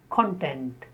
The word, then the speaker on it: content: Now with the same spelling, if it functions as a noun, it becomes content. So adjective form is content. I am content with what I have. And the noun form is content. What are the contents of that book? Same spellings, different pronunciations, different parts of speech.